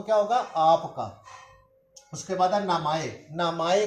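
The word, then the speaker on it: 名前: उसके बाद नामाए, नामाए को उर्दू में कहते हैं नाम और इंग्लिश में कहते हैं नेम। तो नाम जो है इसको जापानी ज़ुबान में नामाए कहते हैं।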